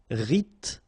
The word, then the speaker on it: rythmique: Remember, Y pronounced like I and then H doesn't exist. Rythmique.